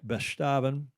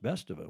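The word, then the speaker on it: Bestaven: von d global winner yannick bestavan best of i heard it pronounced best of it we've been pronouncing it wrong i think on his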